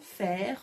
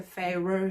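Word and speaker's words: Feyre: faire moi je l'appelle parce que fire je n'y arrive pas ça me dérange la façon dont c'est dit malgré que c'est comme ça que son prénom se prononce moi je n'y arrive pas donc je dis faire c'est très bien comme ça et on va retrouver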